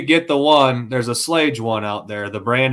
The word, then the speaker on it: Schlage: There's a Slage one out there.